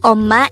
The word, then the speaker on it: 엄마: word number 132 om this is pronounced as a two syllable word the first syllable is om the second syllable is ma pronounce it with me the word omma is simply the Korean